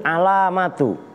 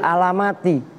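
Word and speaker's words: العلامة: Wa hadhil alamatu. Tuh yang bacanya begitu. Wa hadhil alamatu, karena ada yang baca wa hadhil alamati.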